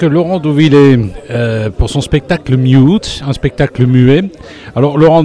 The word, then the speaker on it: Mute: Mais plutôt comme un peu les Anglais, quoi, mute, quoi.